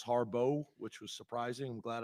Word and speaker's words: Harbaugh: offensive coordinator uh Greg Harbaugh um which is also an interesting one it looks like Harbaugh but in their pronunciation guide it's it's it's it's listed out as Harbo which was surprising I'm